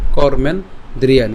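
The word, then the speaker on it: कर्मेन्द्रियाणि: কর্মেন ওযে দন্তান পর্যন্ত আমরা ভাঙবো বলেছিলাম কর্মেন দ্রিয়ানি। বাট আমরা একসাথে উচ্চারণ করব।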